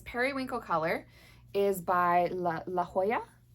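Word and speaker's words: La Jolla: color is by la la Hoya it's spelled um j o l l a so that should be La Hoya and the color way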